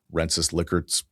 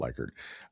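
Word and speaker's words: Likert: in scores numbers surveys liquor scale. It's pronounced licker, not lyard.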